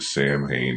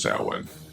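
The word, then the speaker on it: Samhain: And I know that Sam Hayne is actually pronounced sin, but Sam Hayne is how it was pronounced in the series, so that's how I pronounce it here.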